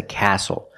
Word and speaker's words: castle: We also see the silent T when you have the spelling pattern STLE.